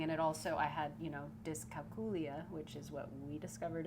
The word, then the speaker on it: dyscalculia: And it also, I had, dyscalculia, which is what we discovered is how you pronounce it, which is dumb.